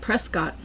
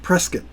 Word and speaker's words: Prescott: It looks like Prescott. It does look like Prescott, but the locals call it Prescott. Yes, they do. Like a press kit.